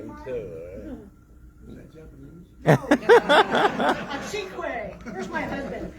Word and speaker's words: cinque: A cinque.